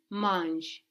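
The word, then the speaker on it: mange: ER verbs as well we can just pronounce them without this ER ending so how would you say he eats so he's eating in munch munch good so that spell ma n GE but to the ear which is losing the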